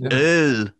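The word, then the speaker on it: øl: It's Earl. Because I asked him, I pronounced it in my mom's dialect, and she's from the west.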